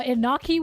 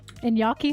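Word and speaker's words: Iñaki: Uh, Inaki was good. Inyaki, sorry, I think is how you say his name.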